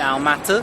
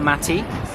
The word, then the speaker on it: Almaty: little while later here in our motto that's how you're supposed to pronounce it not Almaty apparently having been to